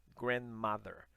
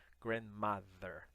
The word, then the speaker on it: grandmother: Então é grandmother, grandmother. Lembra do TH, a língua entre os dentes?